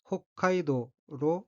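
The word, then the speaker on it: 北海道: 한국으로 읽으면 북해도입니다 그리고 히라가나 발음을 보면 처음 호 다음에 소금이 와서 홋카이도로 발음합니다 그러면 원어민의 발음으로 3번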